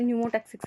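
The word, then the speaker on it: pneumotaxic: Centre की start होगी इसमें न्यूमोसेंटिक सेंटर में ना पी कोसाइलेंट रहते हैं बट लिखा पी जाता है पहले न्यूमो टैक्सिक सेंटर ये किसमें मिलता पों्स में मिलते हैं।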